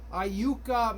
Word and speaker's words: Iuka: And remember, it's pronounced Iuka. Iuka, Mississippi.